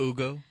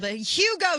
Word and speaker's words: Hugo: it up I can't Ugo oh Ugo Chavez they got to pronounce it the people in the news Ugo let's just you know let's straight up Ozark Hill Hugo shavis y'all quesadillas and